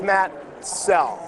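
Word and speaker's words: Soell: soul s-o-l-e well makoto it's spelled s-o-e-l-l and it's pronounced cell i'd like to get that out of the way for all you folks who constantly mispronounce it it's matt cell i understand that you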